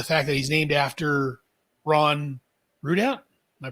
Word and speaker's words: Ron Rudat: I love the fact that he's named after Ron Rudat. Am I pronouncing that right?